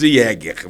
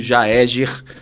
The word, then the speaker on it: Jaeger: Vai falar jáer, fala Jeger, fala de tudo, mas menos Jeger, mas o a pronúncia é Jaeger e vem do austroalemão que é caçador, né?